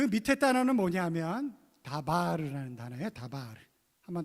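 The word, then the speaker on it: דבר: 그 밑에 단어는 뭐냐면 다바르라는 단어예요.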